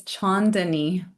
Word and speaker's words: Chandani: You're so close. It's Chandani. Shandani.